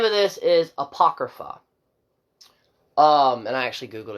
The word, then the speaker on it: Apocrypha: that okay and the name of this is Apocrypha um and I actually googled it to pronounce it right and basically what it means